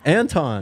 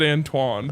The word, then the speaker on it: Anton: First of all, you even got its first name wrong. Anton. You said Antoine.